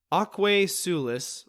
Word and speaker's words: Aquae Sulis: Aquae Sulis, I believe is how it's said, I'm not a Latinist,